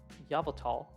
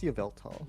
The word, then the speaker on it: Yveltal: will we see uh yavatal is there a proper pronunciation for this I've heard so many different Yveltal I think it's Yveltal Yveltal uh when will you